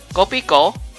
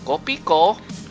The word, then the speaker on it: Kopiko: Like, that's like, because you can't, they pronounce the F like P, so it's "Kopi ko," and "ko" would be, "Do you want coffee?" essentially, right? That's the name of the product. They just took that, phonetically and spelled it out, and that's the name of the coffee.